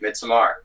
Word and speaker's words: Midsommar: I thought that was how you pronounce it, Midsommar. Well, most people say midsummer, so I just sort of say midsummer. I say midsummer / midsummer because I heard Ari Aster call it midsummer, so I just assumed